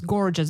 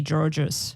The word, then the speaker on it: gorgeous: Because Same sometimes students also mispronounce gorgeous. They say Georges. Yes. Oh, right. The G and the J sound.